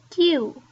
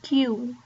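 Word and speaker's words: queue: I've heard Q, U, and whatever, but really we just say Q, Q. It's just Q. Only one syllable is there, and it is verb and noun as well.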